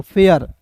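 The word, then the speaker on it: fair: के बाद आर आया तो ए आई को ए आर पढ़ेंगे आर को लिखेंगे र तो फ ए इस तरीके से थोड़ी ना हिंदी में लिखते हैं। जी हिंदी भी लिखना आपको नहीं आता है तो सिखा दे रहे हैं यहां पे। देखिए एफ ए आई आर तो देखिए एफ का फ और ए का एक एक होता है दोस्तों फेयर एफ ए आई आर फेयर ए होता है ना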